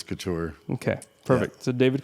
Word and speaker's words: Couture: And so we kind of acquiesced to Couture. Couture. So I'll answer to anything. But yeah, the right way to pronounce it is Couture.